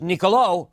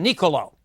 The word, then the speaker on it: Niccolò: first name is mispronounced you've got an accent on the last oh and that means it's Niccolo rather than Niccolo so niccolò machiavelli is